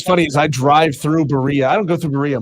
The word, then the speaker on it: Berea: the name is it Berean Berea so it's like diarrhea it rhymes with diarrhea and that's honestly folks